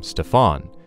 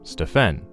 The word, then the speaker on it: Stephen: says Del, when one of the Nike executives pronounced his son's name Stefan instead of the correct name Stephen.